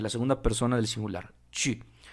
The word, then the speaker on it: tu: Algo pasa con el pronombre personal informal, tu, de la segunda persona del singular, tu. La letra U tiene un sonido distinto en francés al español.